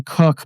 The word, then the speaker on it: Kook: It was Rabbi Cook, but it's spelled Kook.